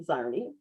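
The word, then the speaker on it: Czarny: So I'm going to start with Dustin Zarni. Am I pronouncing your last name correctly, Dustin?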